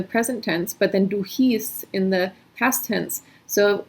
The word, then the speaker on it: hieß: So this EI is pronounced I, like an Einstein, and then this IE is pronounced E, like in Liebe. We had Ich liebe dich, I love you. Ich liebe dich. So IE is E, hieß, and EI is I, like Einstein.